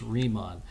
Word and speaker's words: Riemann: Bernhard Riemann excuse me it's easy to mispronounce this word but it's Riemann so if you're familiar with the song by Aerosmith called dream on that maybe you're not